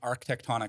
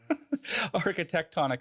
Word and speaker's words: architectonic: the reviewed the clips i was saying arc tectonic which i think sounds pretty cool too but it's archetectonic architectonic system for living and acting